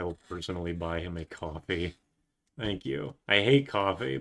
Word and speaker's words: Ko-fi: Hi, it's coffee. You is pronounced coffee. That's it. I'm going to say Kofi.